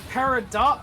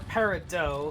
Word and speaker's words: Peridot: too close is it is it Peridot or Peridot that's a good point yes both are you know accepted pronunciations so I just want